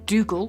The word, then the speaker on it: Dougal: you can find him in most places as Dougal, which is spelt Dooougle.